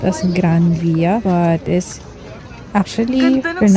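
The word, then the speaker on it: Gran Vía: Spanish, if an N is followed by a V, N is pronounced as an M, and V is pronounced as B.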